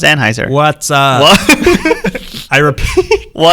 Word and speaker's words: Anheuser: Is it Anheuser or Anheuser? I've always heard, like in commercials, Anheuser. Anheuser. What's up? No, it's Anheuser.